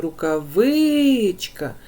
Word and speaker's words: рукавичка: в нас третій склад тому що коли ми вимовляємо Рукавичка Ми чуємо що наголос падає на третій склад Розкажіть будь ласка куди